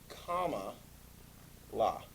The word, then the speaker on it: Kamala: Think like the punctuation mark. Not exclamation point or period, comma, la.